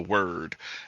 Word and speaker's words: Wyrd: And in this house is a other dimension that's called the Word, and it's spelled WYRD.